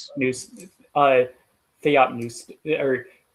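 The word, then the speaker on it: θεόπνευστος: Theopneustos is actually the P is pronounced.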